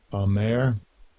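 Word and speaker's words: אָמַר: I think that is pronounced Amar. Let's see what it says here. Strong's H559. Amer.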